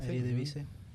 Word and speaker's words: Eredivisie: Yeah, Eredivisie.